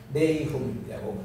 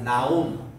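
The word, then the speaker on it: Nahum: 네이훔이라고 그래요. 의와 인과 신. 네움의 H 요거는 없을 수 있습니다. 따라합시다. 나훔. 두 가지 발음 다 가능해요.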